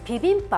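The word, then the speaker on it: 비빔밥: つくってみましょうピビンパっていうのは焼肉屋さんで db んばっっていう風に書いてあると思いますがあれはもう本当にひどい発音で pv ンっていうのが混ぜる tv パッカーご飯です tv んばーもしくはピビンパとなるそれを子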